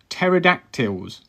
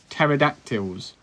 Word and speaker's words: pterodactyls: It's pterodactyls. Okay, so it's a silent P. You're not pronouncing the P. So pterodactyls.